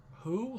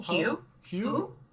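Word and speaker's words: Huw: or i don't know how would you pronounce h-u-w h-u-w yeah is that who hugh hugh mr thomas he wants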